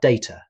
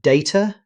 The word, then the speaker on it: data: Next, we have data. This is a great example of a word with two accepted pronunciations. You'll hear data and data.